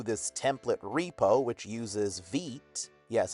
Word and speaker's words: Vite: template repo which uses VEET. Yes, it's pronounced VEET even though it's spelled like vite. VEET.